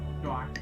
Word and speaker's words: noir: Noir. It's one sound. It's Noir. one syllable.